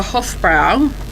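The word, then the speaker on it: Hofbräu: But just, last year for Hofbrau, I'm not sure if I pronounced that right.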